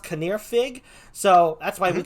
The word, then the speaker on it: Canwr Ffug: the first time the name up there is pronounced caneer fig so that's why we call him fig right it looks like it can wear fug but he's it's pronounced kaneer fig so we call him it is or welsh